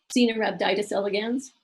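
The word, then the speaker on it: Caenorhabditis elegans: studies and long organisms so this is your pronunciation guide xena rubbed itis elegans another worm as small as I mentioned one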